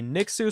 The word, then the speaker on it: Nixu: This was a Nixu stream. It's pronounced Nixu, not NYXW. I'm looking at you, Squig, or Nixu, or whatever. It's Nixu.